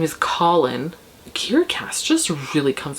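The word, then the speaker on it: Kahlen: sorry but it's true it's like colin k a h l e n i think it's how it's spelt but in the audiobook it just sounds like colin like call in the boy's name and then so she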